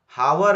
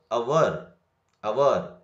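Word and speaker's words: hour: Next, ಹಾವರ್ ಅನ್ಬಾರ್ದು, ಅವರ್ ಇದಕ್ಕೆ ಹಾವರ್ ಅನ್ಬಾರ್ದು.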